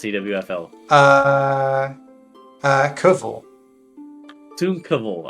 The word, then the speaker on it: Cwfl: How do you pronounce CWFL? Koval.